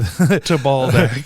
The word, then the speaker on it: Tabaldak: Tabaldak. Ooh, yep. Did I say it wrong? Nope. Looks like you said it right. Oh, good. Tabaldak.